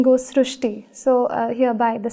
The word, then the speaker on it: Srushti: srti so in marati the word r is pronounced as Ru so that is why the pronunciation goes srushti so uh hereby the